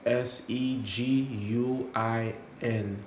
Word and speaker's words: Seguin: Uh, this is spelled S E G U I N, Seguin.